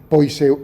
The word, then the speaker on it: Poiseuille: Poiseuille, bueno, como se pronuncia en francés.